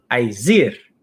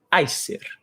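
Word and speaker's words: Æsir: conhecer o termo Acer as pessoas geralmente chamam de aizer a pronúncia em ordem contigo é ai ser significa poderes incitadores são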